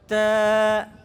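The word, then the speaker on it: ت: এবং নুক্তাগুলি কোথায় উপরে এটার উচ্চারণ কি হবে তা এটাও পাতলা উচ্চারণ হবে এটার উচ্চারণে কি হবে পাতলা হবে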